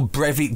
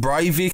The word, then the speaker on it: Breivik: of Anders Breivik or Brevik depending on how you pronounce it in Norway to pronounce it bravely but in England I've always heard him pronounce pervy Anders did the massacre